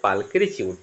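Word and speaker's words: pulchritude: এটার উচ্চারণ হবে পালকিচিউড।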